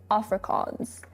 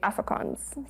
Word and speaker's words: Afrikaans: So I've been saying Afrikaans, and people are like, no, it's Afrikaans. But I could swear I've heard other people say Afrikaans.